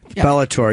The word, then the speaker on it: Bellator: do you like Bellator is it Bellator how do you say that bellor Bellar Bellator yeah it's a lot of